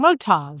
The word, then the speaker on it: Motoz: And now we know we've been saying it wrong. Motoz. Motoz it is. The land of Oz.